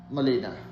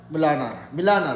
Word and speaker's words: Milana: One of them is Arihan, other one is Suhina, I don't know, and the third one is Malina.